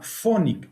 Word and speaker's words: Phonic: algunos alumnos es una empresa que se llama phonic se escribe pH h o n i c phonic